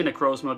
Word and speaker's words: Necrozma: I hear a lot of people pronounce it. I say Necrozma because I have a little slang on that.